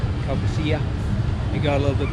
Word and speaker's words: Caucasia: wide river, and then after Caucasia, I think that's how it's pronounced, Caucasia.